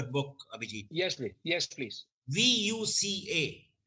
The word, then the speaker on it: VUCA: yes me yes please v-u-c-a yeah you learn if i'm pronouncing it correct yes yes yes right and it will be